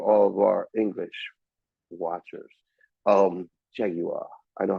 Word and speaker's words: Jaguar: Jaguar. I know how to pronounce it correctly. What? Jaguar. That's the way you're supposed to pronounce Jaguar. Jaguar.